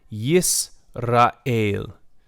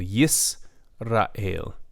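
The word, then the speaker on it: ישראל: also with the choise a single schwa in the middle of a word is generally silent it also marks the end of a syllable yes Rahil yes a la ale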